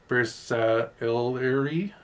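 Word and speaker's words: Bersaglieri: And again, how you say, again, me butchering, Bersailleri. He says the G is silent.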